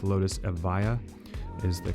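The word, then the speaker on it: Evija: And last but definitely not least, it's the Lotus Eva, not the Avijia, which a lot of people say the J is silent. It's Lotus Eva is the correct pronunciation of it.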